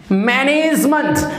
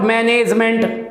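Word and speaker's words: management: बाद आता है तो इसको बोलते हैं मंट, मैनेजमेंट, this is मैनेजमेंट, नॉट मैनेजमेंट, this is मैनेजमेंट, मैनेजमेंट, this is मैनेजमेंट, okay. तो आपने राइट प्रोनाउंसिएशन में क्या करना है, इसको मंट बोलना है, मेंट नहीं बोलना है।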